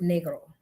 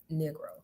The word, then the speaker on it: negro: basically black in Spanish black in Spanish is pronounced negro and when you americanize it negro uh but I'm not